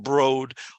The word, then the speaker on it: Broad: It looks like Broad, but it's actually pronounced Broad Art Museum.